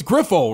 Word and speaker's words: Grifol: like okay what changed so it's griffle right Pedro griffle yes some yeah griffle g is see I'm